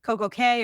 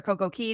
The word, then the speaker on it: Coco Cay: for years was called Coco Cay or Coco Key, depending on how you pronounce it. It's pronounced Key. Yeah. It's spelled C-A-Y.